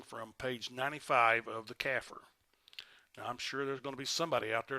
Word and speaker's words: CAFR: comprehensive annual financial report which we refer to as cafr which is pronounced phonetically caffer so from now on